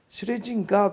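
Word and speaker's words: Schlesinger: になったアーサーシュレジンジャーという知れジンガーと発音する人もいますけど阿蘇シュレジンジャー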